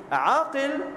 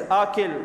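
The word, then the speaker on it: عاقل: Aqil, when you pronounce it properly with the Ayn and the Qaf, Ayn, Alif, Qaf and Lam.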